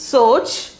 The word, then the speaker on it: सोच: Pronunciation is soch.